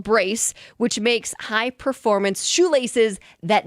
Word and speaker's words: BRCE: It's called, you pronounce it Brace, but it's BRCE.